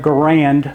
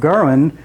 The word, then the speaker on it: Garand: And I'm going to call it grand because that is our term that we like to use here in America. We like to use the term grand instead of German.